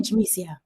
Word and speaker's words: Yamicia: But you can call me Yamicia. Yamicia. Is the Y pronounced a little like a J?